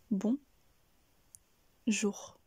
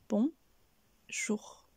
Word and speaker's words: bonjour: donc ici nous avons bon jour je vous conseille également d'insister sur le son r à la fin de jour et n'hésitez pas aussi